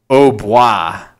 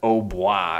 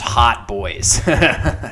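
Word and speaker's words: hautbois: There's also a funny word, which I assume this is pronounced au bois. I think it's pronounced au bois or something like that. I don't think it's pronounced hot boys, just for the record. Because as you can see, it's an old name for an oboe. So it's, you know, oboe, au bois, right?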